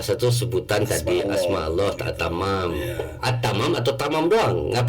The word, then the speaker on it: Attamam: enggak pakai diambah embel-embel kalau di dalam lugha Arabi itu alif lam ta pakai tasdih Jadi diucapkannya attamam kalau ditulis eh oleh huruf laaten itu a t t a m a m engak ATM gitu Baik